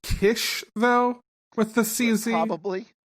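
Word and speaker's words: Khyscz: for now i mean i'm sure it's pronounced kiss it is it's the box of kiss k-h-y-s-c-c yeah yeah okay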